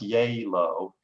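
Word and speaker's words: Gjeilo: taking notes um but it's pronounced yay low and um and it's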